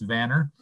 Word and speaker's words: Vanir: Maybe a little bit of a correction on the pronunciation of the name. It's Vanir, and we have an office in Renton, Washington.